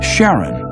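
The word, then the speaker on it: Charon: Christy suggested the name Karen after the Ferman of Pluto's underworld in Greek mythology but preferred to pronounce it Sharon more like his wife's name Charlene from the Motions of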